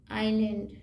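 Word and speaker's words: island: हैं उसको नेक्स्ट पढ़िए एस का साइलेंट लेटर एस जी दोस्तों बहुत ही important letter S आई एस एल ए एन डी हा आइलैंड good I एस एल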